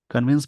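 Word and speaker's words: convince: वहां हो, टू कन्विंस, कन्विंस मतलब समझाने के लिए। जब भी किसी वर्ड में सी ओ एन लगा उसका प्रोनाउंसिएशन हो जाएगा कन, जैसे कन्विंस, कंटिन्यू, कन्विंस the government मतलब समझाने के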